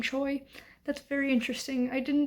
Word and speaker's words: Choi: on Mary Chui which the Korean pronunciation of this is Trey but I have heard this author in an interview pronounced her last name Choi that's very interesting I